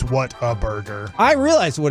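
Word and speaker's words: Whataburger: are you thinking water it's not Water Burger bro the hell it's not it's not waterburger if you grew up in Texas it's waterb I say it Like Water Burger but I know it's what a burger I realized what it's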